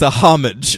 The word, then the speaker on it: homage: ripoff it's an homage he said he pronounces that H he says it's a homage homage it's a homage